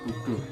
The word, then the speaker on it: Buddha: Tulisannya Buddha tapi bacanya Budo. Jala Budo.